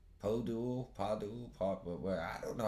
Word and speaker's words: Podul: So, Padul, not Abdul, Padul. Podul, Padul, I don't know how you pronounce these things.